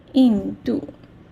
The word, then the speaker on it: 印度: Indian, in Chinese we say 印度 yeah, okay, 印度 yeah. Here, yeah, you can see 印度 yeah, 印度 in, which is the falling tone. So 印度 yeah, you put a falling tone here.